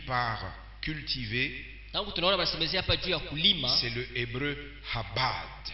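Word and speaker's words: עבד: Le mot que nous voyons traduit par cultivé, c'est le hébreu habad. Comment ça se prononce ? A B A D. Ab A. Habat.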